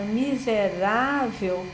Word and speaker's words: miserável: E naquela emoção, ao invés dele pronunciar a palavra miserável, que é o ra, que é a sílaba tônica, que é a sílaba marcada graficamente por um acento agudo, é muito comum ele deslocar esse acento pelo mi.